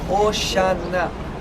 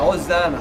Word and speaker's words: Hosana: Olha só a pronúncia. Oxana, Oxana, Hosana, Hosana, tá?